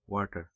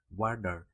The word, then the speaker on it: water: তবে এখানে উল্লেখ্য, যখন আমরা আমেরিকান অ্যাকসেন্টে বলি তখন বলি ওয়াটার, WADER উচ্চারণ হয়। বাস্তবে আমরা লিখি WATER, বাট বলার সময় হয় ওয়ার্ডার, মানে WAD উচ্চারণ হয় টি এর স্থানে, বাট অন্য সকল অ্যাকসেন্টে আমরা টি জেনারেলি ইউজ করি।